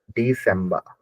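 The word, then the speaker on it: Dezember: नवंबर दिसंबर जो है दिसंबर की स्पेलिंग अलग है डी डी सबा डी जड आएगा लेकिन स का साउंड आएगा क्योंकि जड के साथ में य तो सब बना डिसंबर डिसंबर डिसंबर डि सबा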